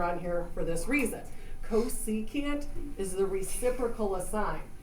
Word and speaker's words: cosecant: CSC, that stands for cosecant, is how you say that, cosecant.